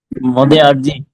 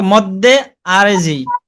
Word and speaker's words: মদ্দে আরজি: মদে আরজি। হ্যাঁ, স্পষ্ট করে উচ্চারণ করেন, বারবার চর্চা। মদ্দে আরজি।